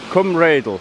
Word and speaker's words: Rheidol: I'm not sure if I've ever filmed this spot before, but this is the dam at Rheidol, Rheidol, that's how you say it properly.